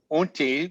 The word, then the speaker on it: Utne: And in 2009, Unti, which rhymes with chutney, magazine named David one of its 50 visionaries, along with the Dalai Lama.